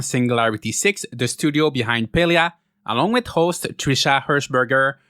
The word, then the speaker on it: Palia: that the name of the game is actually pronounced palea and not Padia I had been pronouncing it palia since the very first time I heard of